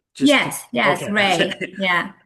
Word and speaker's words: Rei: Um I believe it's it's pronounced Ry, right? Just Yes. Yes. Ray.